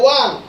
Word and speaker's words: won: উত্তরটা কিন্তু হবে ওয়ান, ওন নয়।